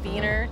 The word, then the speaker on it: Wiener: We say Wiener dogs, but the German pronunciation would be Wiener.